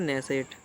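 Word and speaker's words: Knesset: इसे कहते हैं दोस्तों ने सेट कि किसने किया साइलेंट रहती है तो आपको यह ध्यान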